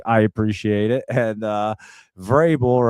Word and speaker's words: Vrabel: And uh Vrabel right there.